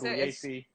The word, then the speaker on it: Pugliese: The way you pronounce Pugliese, it's so good.